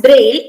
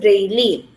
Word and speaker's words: braille: e sounds were silent this word is pronounced as braille instead of braylee so this it's a